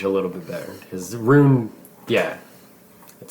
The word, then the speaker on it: Rune: so ruin is a witch you're saying it ruin like r u i n that's what's throwing